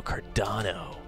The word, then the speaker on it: Cardano: Did we not spell that right? C-A-R-D-O-N-O? D-A-N-O. D-A-N-O, Cardano.